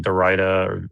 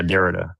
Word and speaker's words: Derrida: You were talking about like Dorita or Dorita. I don't know how you say his name. Postmodern. Yeah, Derrida.